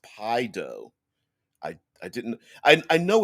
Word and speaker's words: Paizo: us a deadman says paizo's frequently asked question says it's pronounced pie dough i i didn't i